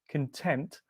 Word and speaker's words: content: okay the next one content remember the stress is on the tent content what does content mean